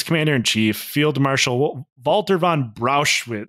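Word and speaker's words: Brauchitsch: Now, in the opinion of his commander-in-chief, Field Marshal Walter von Brauschwitz. It's always good when it rhymes with Auschwitz.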